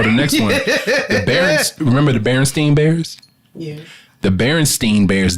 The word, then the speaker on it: Berenstain: was the baron stain bears not The Berenstein Bears stain like stain on a barren's Berenstain I just like this because everybody can't read we was all kids reading those books we was all pronouncing it wrong remember which one it was it was it was Berenstain I remember that so